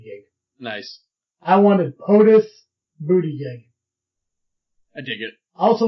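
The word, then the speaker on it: Buttigieg: I wanted POTUS booty gig. I dig it. I also want to learn how to pronounce his name. Boot edge edge.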